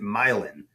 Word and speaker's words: Milan: Or the street name is spelled like Milan, but we pronounce it Milan.